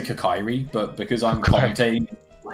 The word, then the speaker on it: Kokiri: Barrel doesn't really need to do Child anymore, unless they find the Kokiri sword.